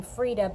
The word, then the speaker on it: Feride: she knits and crochets you pronounce her name Freda but it's spelled fer IDE and I will put